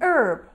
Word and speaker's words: herb: we need the article n not a an herb might be another example of such a situation